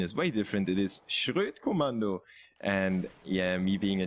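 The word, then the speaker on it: Schroet Kommando: the admins to change it to SK, the Schrodt Commando, as you would pronounce it in English. The German pronunciation is way different. It is Schrodt Commando.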